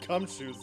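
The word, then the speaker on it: Gumshoe: Edgeworth, you should take a lesson from Detective Gumsho. That's how you say it.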